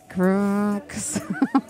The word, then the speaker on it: Crvvcks: This tune is, well, I think it's pronounced, I think it's by an act called Crooks, but it's spelled Crvvcks. Crooks. There's no vowels.